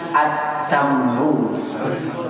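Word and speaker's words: التمر: Tamar tak syamsiyah berarti berikan tasydid at-tamru.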